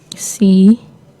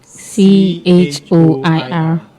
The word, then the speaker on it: choir: And for today's word, we have C-H-O-I-R. Let's take that again. C-H-O-I-R. Now the word is pronounced choir and not choir.